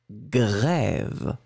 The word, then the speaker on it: grève: Donc là, on va travailler sur la différence entre le cre, CR, cre, cre, cre, et le gre. GR, gre, gre, gre, qui est plus guttural.